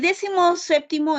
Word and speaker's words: decimoséptimo: Entonces yo sé que sinfín es como una aguda, balompié también es como una aguda, y decimoséptimo es como una esdrújula.